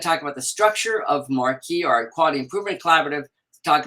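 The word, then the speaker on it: MARCQI: And the uh the acronym for that is M A R CQI and we pronounce that Marquee.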